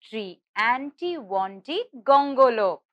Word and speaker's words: Triantiwontigongolope: to pronounce would you like to try and pronounce it with me come let's try saying it tree tree auntie tree aunty wanted gongolope i hope you were all able to say